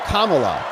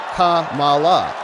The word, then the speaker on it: Kamala: isn't that illegal that's it's Kamala not Kamala Don Lemon is going